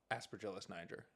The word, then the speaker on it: Aspergillus niger: How' you How'd you pronounce it at first? Aspergillus niger.